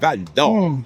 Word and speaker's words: Val-d'Or: You got to say it with the accent, Val-d'Or.